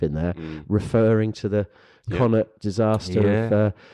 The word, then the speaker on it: Connacht: It's some good stuff in there, referring to the Connacht disaster of 2 years ago.